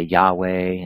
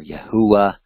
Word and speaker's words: Yahweh: holy name, that Yud-Heh-Vav-Heh, many of us say Yahweh and or Yahuwah, and other ways to pronounce it, "but the word of